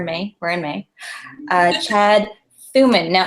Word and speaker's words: Thumann: where in May Chad Suman now am I butchering your last name oh you're pronouncing it perfectly I'm very impressed usually I usually get Thurman so that's what my